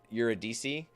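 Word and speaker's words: Eurydice: and you're a d you're a DC is how you say it you're a DC uh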